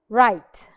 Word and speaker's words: write: word I have is right right now what is the missing letter it is w right let's try another color right right because we have a rule here the W is silent asylent w Auto now